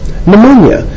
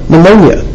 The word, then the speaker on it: pneumonia: bacteria reproduce or produce pneumonia I know it starts with the p but that's how you actually spell it ponia starts with a P Griffith's experiments Griffith isolated